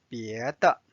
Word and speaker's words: 别的: The next word we are going to learn is 别的。别的 means other. And there is no tone symbol here, so it's neutral tone.